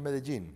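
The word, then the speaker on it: Medellín: where are you from colombia i am from medellin so medellin is the second largest city we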